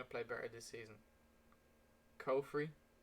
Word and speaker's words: Caufriez: Caufriez, Caufriez, as he pronounces it himself, or Victor Moses?